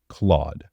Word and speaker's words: Claude: and ends with pick my name rhymes with odd and starts with the third letter of the alphabet so starts with c and Rhymes of odd Claude I share my name